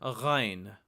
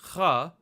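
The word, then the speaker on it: ग़: And the proper pronunciation is almost like Kha, but you use your vocal cords to vibrate it, and it's a little further down in sound. So instead of saying kha, we say gha, gha, gha.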